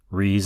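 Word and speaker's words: Rhys: Reese is spelled R-H-Y-S.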